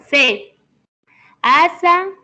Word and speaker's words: casa: No entanto, o S simple intervocálico tem o som de Z. Z. Z. O Não, Z. não. Z, Lady. C. C. Asa, casa, música, tesoura, blusa.